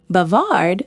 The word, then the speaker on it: bavard: He is bavard. Here is a trick to remember. Imagine a noisy bar where everyone is chatting. Bavard sounds like bar.